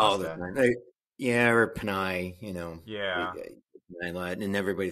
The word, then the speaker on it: Panei: Panei. Panei. Panei, yep. Like the pasta? Like the pasta, yeah. Yep. Just spelled different. Yeah, but you must get that all the time.